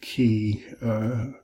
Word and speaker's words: chi: Then I do the last four together, phi, chi, psi, omega, phi, ph, chi, or you could do key, chi, like Christos is spelled with